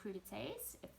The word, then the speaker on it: crudités: popcorn or put out a platter of vegetable crudités that's how you pronounce it and the you know chop up